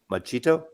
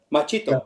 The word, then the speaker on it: Machito: with Dizzy Gillespie and machete uh how to pronounce his name yeah yeah machito machito yeah those those afro-cuban Jazz records um are